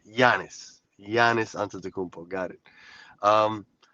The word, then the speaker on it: Giannis: I've gotten so many comments about the way I say his name, Giannis Antetokounmpo, cuz I say the G, Giannis.